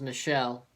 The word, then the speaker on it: Michel: In the 69th minute, his last name was Michel. I'm saying it the way Sony Michel says it, so it's spelt the same way.